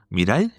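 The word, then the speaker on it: 未来: Mira, Miraay. Mira, miray. Como mira ahí, mira ahí, mira ahí.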